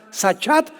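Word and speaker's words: שחת: la palabra hebrea sachat se escribe con s Samuel y ch como suena sachat con té de tío al final y esta palabra significa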